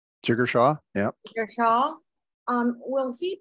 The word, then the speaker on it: Jigar Shah: Jigar Shah? Jigar Shah, yeah.